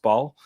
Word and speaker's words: Basel: was at ball uh or basel you guys may recognize but he's actually pronounced ball um yeah derrick ray